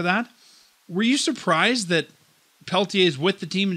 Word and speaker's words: Pelletier: call-ups they called a walker door and Jacob Peltier from the Calgary Wranglers said it right the